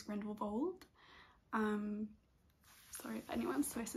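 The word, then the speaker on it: Grindelwald: my boyfriend went to grindle Wal that's not how you pronounce it I think it's grindle Bal um sorry if anyone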